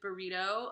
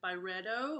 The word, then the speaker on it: Byredo: They did a fragrance with burrito. I think that's how you say it. It sounds, I don't mean burrito like Mexican food. I think it's Byredo, or I don't know.